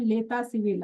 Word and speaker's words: l'état civil: And then comes your marital status, which is called l'état civil. Again, this T is silent.